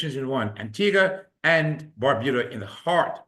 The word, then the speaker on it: Antigua: As you can see there, we got a little bit of celebrity help to pronounce the the the correct uh pronunciation for Antigga.